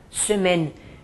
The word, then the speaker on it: semaine: Uma outra dica, o ezinho final nas palavras não se pronuncia. Suponhamos a palavra semaine, semana, termina com ezinho. Eu não falo semaine, não, semaine, para no N.